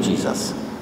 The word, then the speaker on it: Jesus: And you know, Judge Jose Luis Jesus, and they pronounce his name Jesus, so we call him Judge Jesus. And it's always interesting that